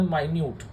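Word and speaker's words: minute: एक होता है मिनट जो आपको टाइम बताता है, और एक होता है माइन्यूट। मिनट एक अलग प्रोनाउंसिएशन है, माइन्यूट एक अलग।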